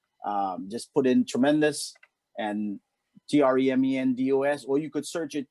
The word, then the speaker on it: Tremendos: But out there they have Tremendos. So when you search in, just make sure you search with the Tremendos. It's DOS, not DOUS. It's spelled DOS.